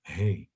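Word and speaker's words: ה: it's the feminine letter hey hey this is how you pronounce it hey like you say like hay house right hey hey like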